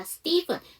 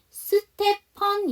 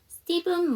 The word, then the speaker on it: Stephen: 자, Stephen. 자, 이거 전에도 한번 질문 나왔던 건데 이거는 스테펀 이렇게 읽어주시면 안 되고요. 스티븐이라고 읽어주셔야 됩니다.